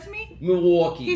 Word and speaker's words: Milwaukee: Can you say Milwaukee because properly?